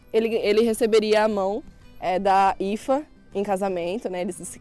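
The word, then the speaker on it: Aoife: E essa daqui é a Ifa, famosa Aoif, né? Muito conhecido esse nome pelos brasileiros como Aoif, que se escreve Aoif, mas fala Ifa.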